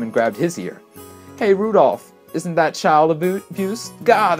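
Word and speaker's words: Rudolf: on it's just anyway this guy's name is pronounced Rudolph haha he must hate grandfather for giving me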